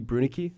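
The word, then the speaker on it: Brunicke: It's not Brunicky, it's Brunick, I've never once.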